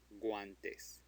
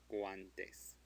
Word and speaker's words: guantes: Guantes. Guantes. So it is pronounced because it is between a G and an A.